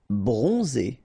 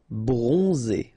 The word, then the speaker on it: bronze: Rei bronze. So o n and then zed. So we pronounce pr pronounced like z. Bronze.